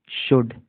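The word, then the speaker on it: should: वी डब्लू ई वी शुड एस एच ओ यू एलडी शुड है ये कई लोग शुल्ड पढ़ते हैं एल यहां पर साइलेंट है ठीक है शुड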